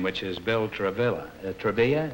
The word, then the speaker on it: Travilla: Travilla is the way you pronounce it? Travilla. Travilla. Is Thank that you. Spanish or It's actually Italian.